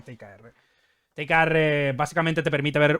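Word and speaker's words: TIKR: Se llama ticker eh t I K R. TKR, o sea, de hecho se suele pronunciar TKR.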